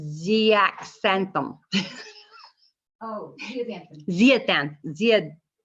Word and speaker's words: zeaxanthin: Ningxia contains zeaxanthin, and I hope I said that right. Xanthan. The Z-A-X-A-N, the long word is xanthan, because it says zeaxanthin. Oh, zeaxanthin. Zeaxanthin. The X is Z.